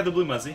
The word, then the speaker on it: TheBlueMuzzy: you say your name the blue muzy yeah the blue muzy that's right blue muzy okay the blue Muzzy